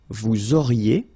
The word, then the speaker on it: auriez: Vous auriez, liaison here, and then EZ will go like E. Vous auriez, okay, and the last one.